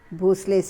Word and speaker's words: Bhosle: Mudhol, Mores of Javli, Bhosles of Verul. See, in the textbook they have given Bhonsle, Bhonsales, but N is silent, so I have removed that letter here. It should be pronounced as Bhosle.